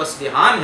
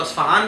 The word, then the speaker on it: اصبہان: وطن جو ہے وہ اصبہان ہے، جس کو اصفہان بھی کہا جاتا ہے عام طور پر، لیکن اصبہان اس کا اصل تلفظ ہے، اور وہاں کا ایک